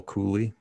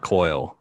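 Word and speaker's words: Cuylle: cool or will cooley i suppose how do you say this name i always get his name wrong like it's i heard cooley i heard coil it's definitely not coil i think it's [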